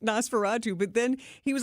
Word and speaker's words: Nosferatu: He said Nostarafu, so he mispronounced Nosferatu, but then he was